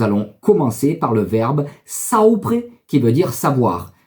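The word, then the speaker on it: saupre: mais surtout nous allons commencer par le verbe saopre qui veut dire savoir sapre en provençal s'écrit S a u P r e allez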